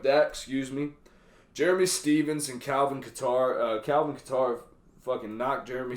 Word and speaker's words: Kattar: Kelvin Kattar is actually how you say it, not Qatar.